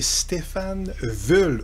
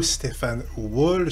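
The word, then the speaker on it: Stefan Wul: des noms importants cétait c'est Stéphane vull ou Stéphan wool selon à qui vous demandez comment on prononce mais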